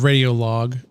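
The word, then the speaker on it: Radiolog: It's pronounced radio log.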